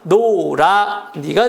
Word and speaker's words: 노라니: 노랗다에 니가 붙어서 노란니인데 자, 히읗이 어떻게 됩니까? 발음상 탈락합니다. 그래서 노라니가 되는 겁니다.